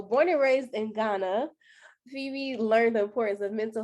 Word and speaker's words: Phebe: My name is Phoebe Brau. Okay. So um I'm going to go ahead and introduce Phoebe you all. So born and raised in Ghana, Phoebe learned the importance of mental health and wellness when she started college.